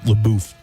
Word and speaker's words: LaBeouf: LaBeouf.